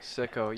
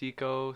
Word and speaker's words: Siko: I've heard it mispronounced Siko, Psycho. Yeah, Seiko like the watch. I haven't heard of Is that a those. thing? Yeah, they're like not bad watches. I've heard Sikorsky, like the helicopter.